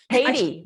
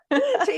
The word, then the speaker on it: Tady: Tady? Tady, yes, Tady. long A, Okay. rhymes with lady. Tady, like lady.